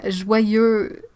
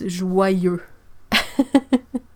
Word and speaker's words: joyeux: So yeah, joyeux, like the first part, the J-O-Y, that's like joie, but the fact that it's a Y sort of links it with the sound that comes after, so you have joie and so it makes joyeux. And you don't pronounce the X because and Noël, and